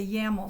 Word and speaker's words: YAML: this section this section is known as the ya mole section how do you spell that I'm going to just it's YAML if